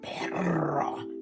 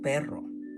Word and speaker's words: perro: I exaggerated the sound, but it's not that exaggerated because you don't have to say perro. No, it's un perro. See? Just a little bit of vibration, the vibration on the R.